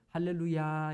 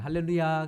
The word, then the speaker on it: 할렐루야: 아 그리고 발음도 요 할렐루야 이렇게 만들고요 1를 루이 얘길 우자 의 엑센트를 더 서 할렐루야 이렇게 발음을 해야 되는데 우리 옆 사람과 많이 살 보실까요 할렐루야 할렐루야 4 할렐루야 아니고 할렐루야 이렇게 인사를